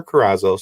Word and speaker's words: Carazo: asked you before but i'm hoping i'm pronouncing your last name properly you are there you are i'm impressed it's good very good all right well with